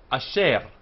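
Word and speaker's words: אֲשֶׁר: Asher, only one proper vowel here. Asher, so one syllable. Which, this is a compound shva of the shva attached to the patah, and it's a very short a. This is a very short e. So asher.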